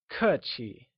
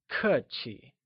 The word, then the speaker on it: 客气: Polite literally translates to 客气, where 客 is pronounced using a falling tone and 气 with the neutral tone. Can you try and say 客气?